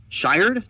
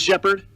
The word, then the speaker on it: Shepard: Shired? Did I say that right? It is Shepard. It's spelled wrong in mine. It's Shired in mine. So it's Emmy Shepard.